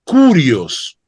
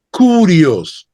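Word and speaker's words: κύριος: Cristo es señor el término en griego es curios curios K u r i o s curios y es la traducción griega y escuchen bien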